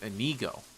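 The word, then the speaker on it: Inigo: And I don't have a problem with her, but it's also going to be it's pronounced Anigo.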